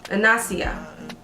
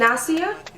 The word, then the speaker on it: Anisah: this unit first I want to thank saya mispronouncing this inácio and Nasia a n is aah oh look I'm gonna